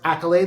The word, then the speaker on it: AKYLADE: a d e and it's pronounced Accolade like you got an Accolade because you did great things that's why it was